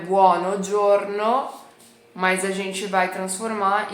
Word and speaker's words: buongiorno: o o tá bom a gente vai tirar o o aqui do meio então não vai ser buo mas vai ser Borno Borno Borno Borno bom pronúncia tá bom Ok entendi bonjorno tá legal mas e